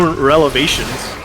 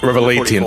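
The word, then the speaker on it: Revelations: Uh, Resident Evil Revations. Uh, Revelation. Revelation. You got to say, you got to say it right.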